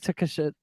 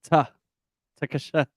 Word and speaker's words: Takeshita: So it's like Takeshita. Takeshita.